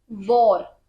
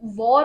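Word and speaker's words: war: ऐसे ही कुछ प्रोनाउंसिएशनल मिस्टेक्स थी, जैसे आपने वॉर, तो वॉर बोलते हैं वार नहीं, राइट?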